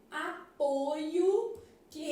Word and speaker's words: apoio: que tá falando aqui eu primeira pessoa eu apoio a letra O é aberta separa-se assim ó apoio na hora de ler a gente tá lendo com a pronúncia o quê aberta apoio Beleza já o substantivo derivado do mesmo verbo apresenta vogal o fechada o apoio que recebi realmente a gente tem um timbre fechado então isso aqui é